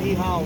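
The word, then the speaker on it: Nyhavn: Yes, I will practice the Danish word with the Ni Hao. And it's spelled Nyhaen. So the Ny part, that means new, and Haven is harbor in Danish. Ni Hao. Just like København.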